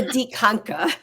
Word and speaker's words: Dikanka: It's a DIKANKA.